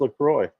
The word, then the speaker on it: LaCroix: It is pronounced LaCroix.